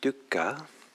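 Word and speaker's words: dukkha: we're looking at um the amazing poly word pronounced duka And uh as I'll talk more about it, it's an adjective.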